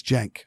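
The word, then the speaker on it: Cenk: Young Turks he uh he pronounces his first name is Jank and it's okay then yeah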